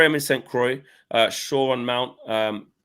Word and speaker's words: Saint Croix: says at 4am incent can't pronounce that croaks is I would assume it's a silent X yeah Saint Croix I wonder where that